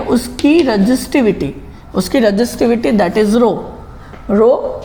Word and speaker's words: rho: मतलब कॉपर जो है उसकी रेजिस्टिविटी दैट इज रो इसे RHO रहू बोला जाता है, पर H जो है साइलेंट है, that means it इज रो, इट इज a Greek